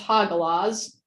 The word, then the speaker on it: Hagalaz: And then the meaning behind it is, it's apparently pronounced Hagalaz, which is hailstorm, disruption, distress, storm, setback, hidden blessings, unexpected.